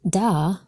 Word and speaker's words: Dal: It just so happens that the fourth letter of the Hebrew alphabet, Dal, was represented by a door in its earliest form. Pronounced Da, this letter is the modern equivalent of D, delta in the Greek, or Dalet in the modern Hebrew.